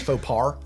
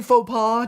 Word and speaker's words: faux pas: Except British people don't pronounce R's when they're in words I and say instead faux pas throw all them the into time. words that they're not, such as faux par.